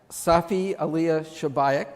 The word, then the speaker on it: Safi Alia Shabaik: This is our artist, Safi Alia Shabaik.